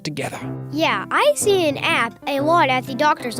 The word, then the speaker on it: APP: Yeah, I see an app a lot at the doctor's office. I believe it's pronounced APP, and it stands for Advanced Practice Provider.